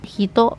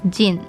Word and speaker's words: 人: Hito can also be pronounced as jin, but because it's between 2 hiragana, you will read it in the onyomi form, which is hito.